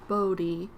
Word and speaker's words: Bodie: Many visitors and longtime locals pronounce the word Bodie with a long southern O as in Bodie.